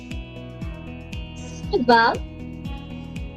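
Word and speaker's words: ça va: And it gives it a saw sound. Sava, Sava, which means, to also answer to your question, all the vowels are pronounced because vowels are sounds.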